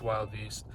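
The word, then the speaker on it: Wilde Beast: It's spelled Wildebeest, but it's Wild Beast.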